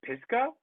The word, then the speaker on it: Pisgah: was saying it correctly yeah it's um it's pisco okay yeah okay it's um it's a national